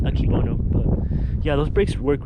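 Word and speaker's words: Akebono: uh brakes i missed i said it wrong in the last video but they're pronounced akibono but yeah those brakes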